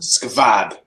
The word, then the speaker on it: SQVAD: yeah, but pronounce it squad, I think. With a V? I think that's just how they spell it. What? They spell it SQVAD. Squad. Skvad.